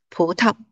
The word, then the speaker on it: 葡萄: Now, the second syllable is read as a neutral tone. 葡萄.